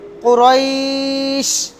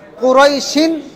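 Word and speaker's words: قريش: সিনের উপর থেমে যাই জজমের উচ্চারণ হবে কুরাইশ কুরাইশ কুরাইশ কুরাইশ থামলে কুরাইশ আর যদি না থামেন কুরাইশিন সামনে চলে যাবেন ইলাফিম বলে বুঝছেন সবাই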